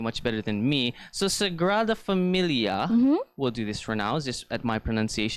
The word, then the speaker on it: Sagrada Família: that I was thinking more San Francisco similar pronunciation we're gonna do this together okay guys so it is called the let's to Sagrada família rather familiar okay one more time Sagrada família I read of a Mumia you meats it's